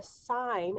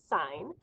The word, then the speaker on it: sine: the hypotenuse of a triangle is called the sine of angle a sine we abbreviate it s